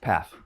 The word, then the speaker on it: Pfaff: Chris, how do you pronounce your last name? Pfaff.